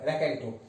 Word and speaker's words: raconteur: अगर आपको स्पेलिंग नहीं समझ में आ रही हो तो ये लिखी हुई है RACONTEUR, रैकेंटो।